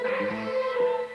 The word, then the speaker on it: Sax: My name is Sax. It rhymes with sex.